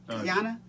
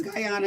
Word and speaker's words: Guyana: How do you pronounce it? Guyana? Guyana.